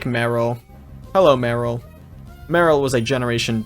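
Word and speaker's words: Marill: get out of here or more real if you want to pronounce it that way all right we can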